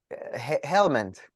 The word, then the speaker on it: Helmand: Rights of River Hirmand. I'm not sure how you pronounce it. Helmand. That's how you pronounce it. It's written right there.